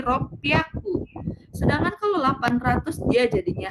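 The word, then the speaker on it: 六百: 600 yang harusnya roku jadi r piaku.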